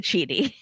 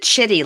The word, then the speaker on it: Chidi: he pronounces it Chidi, so She pronounces it chitty, like chitty chitty bang bang.